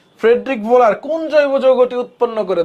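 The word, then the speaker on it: Wöhler: Friedrich ভোলার এই দেখো ফ্রেডরিক ওহোলার বা উচ্চারণটা হচ্ছে ভোলার ডব্লিউ এইচ ও উচ্চারণ হচ্ছে ভোলার হ্যাঁ ওহোলার ওহোলার বা ভোলার যাই বলো ফ্রেডরিক ভোলার ওকে রাজশাহী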